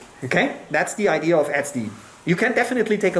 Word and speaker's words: etcd: can control the whole api secondly it runs xd etcd it's frequently pronounced sd sd is a distributed database it's the database